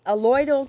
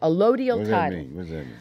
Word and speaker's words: allodial: of the principles alloy alloyal title allodial title excuse me let me say it right a low deal a loyal title is